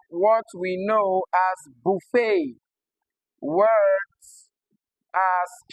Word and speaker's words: buffet: So although they end with e t they do not produce the short e sound like you see here. All right they possess a deep tongue instead. Okay. Because they are of French origin.